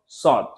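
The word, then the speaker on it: ص: তো যদি এভাবে আওয়াজ করে আমি উচ্চারণ করি তাহলে হবে হচ্ছে শিন। অতঃপর সদ।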